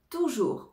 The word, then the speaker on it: toujours: adverbe c'est l'adverbe toujours toujours on ne prononce pas le S à la fin toujours donc en général